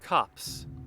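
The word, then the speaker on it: copse: me one second cops it's pronounced like cops cops cops it is a noun it is a small group of trees nightshade cops what the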